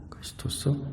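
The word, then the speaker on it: Χριστός: 메시아를 헬라어 그리스도, 정확한 발음은 크리스토스입니다. 크리스토스, 영어로는 크라이스트이고요.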